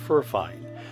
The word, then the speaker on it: Furine: And no, I am not mispronouncing Furine, which is a well-known maker of quality budget USB mics.